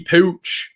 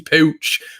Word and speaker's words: Puig: what's his first name ricky pooch we'll start calling him that uh but no it's their puig apparently is how they pronounce it over there so what i'm gonna